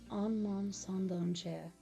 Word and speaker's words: Un Monde Sans Danger: Appropriately named A World Without Danger, and its French counterpart, that is pronounced Un Monde Sans Danger, were probably the most easily recognizable but distinct songs for the entirety of the series.